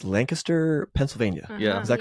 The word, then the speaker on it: Lancaster: Logan and Dakota, you guys are from, we just learned, it's Lancaster, Pennsylvania. Yeah. Is that correct? You pronounce it correct. Some people say Lancaster.